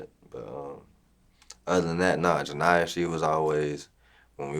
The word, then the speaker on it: Janiyah: Janiyah, okay, I'm pronouncing that correctly.